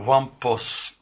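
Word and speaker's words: Wumpus: alguns exemplos no mundo Umpus. Algumas pessoas perguntam se essa pronúncia Umpus é correta, então parece que a pronúncia é mais ou menos do tipo Wampus, né? Wampus.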